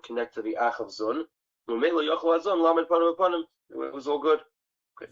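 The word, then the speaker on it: זון: Let's pronounce it zun.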